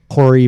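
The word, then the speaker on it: hoary: Horry bats. Hory bats. That's spelled h o a r y.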